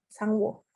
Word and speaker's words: Sang-woo: Dan yang kedua adalah Cho Sang-woo ya, bacanya Sang-woo.